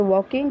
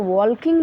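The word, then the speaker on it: walking: Next sentence है are they वॉकिंग, क्या वे लोग टहल रहे हैं। वॉक यानी टहलना, इसको वॉकिंग नहीं पढ़ते, ठीक है। एल जो है साइलेंट रहता है यहाँ पे, वॉकिंग पढ़ा जाता है।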